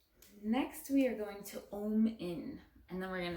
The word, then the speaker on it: Om: But in case you don't know what Om means, it is actually, so it's 2 letters.